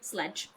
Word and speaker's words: Sleg: Sleg is pronounced sledge.